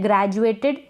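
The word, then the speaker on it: graduated: यह है ग्रेजुएटेड। क्या है? ग्रेजुएटेड। यहाँ पर ये जो डी है इसका उच्चारण ज करके हो रहा है, क्यों हो रहा है हम आगे शेयर करेंगे ये वाला वीडियो।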